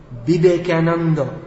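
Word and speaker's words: Vivekananda: maya body of sorts swami bibekanando as it's pronounced in bengali he said it doesn't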